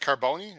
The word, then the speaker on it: Carbone: Are we pronouncing the E? Is it Carbone or not Carbone? It's Carbone. Carbone. is You don't. Yeah, you don't. Depends where you're from.